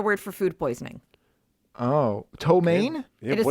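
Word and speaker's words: ptomaine: no it's another word for food poisoning oh tomane it is spelled p-t-o-m-a-i-n-e that's the name of that actress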